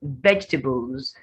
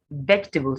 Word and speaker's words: vegetables: stick it steak then vegetables vegetables not vegetables the first e in fact vegetables they're just vegetables as vegetables vegetables vegetables three syllables there's a disappearing syllable there salad chocolate same for